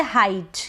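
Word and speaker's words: height: पर है ई आई ई आई को हम पढ़ेंगे हाइट क्या पढ़ेंगे हाइट अब हीट नहीं पढ़ेंगे तो यह चीज आपको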